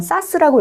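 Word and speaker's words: SaaS: 그러니까 대형 IT 기업이 플랫폼을 제공하는 거를 저렇게 파스다라고 읽었습니다. 그 다음 세 번째 나와 있는 AA가 중간에 들어있는 건 사스라고 읽겠습니다.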